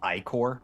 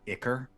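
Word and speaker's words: ichor: Which when you said that Cinnamon on and Wednesday, that revelation is as upsetting to me as that it's Icor and not Icker.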